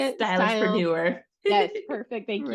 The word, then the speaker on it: Stylistpreneur: Stylistpreneur.